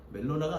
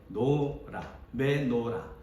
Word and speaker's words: 메노라: 저도 이 발음을 주의했습니다. 멜로나인가? 멜로나가 아니고 메노라.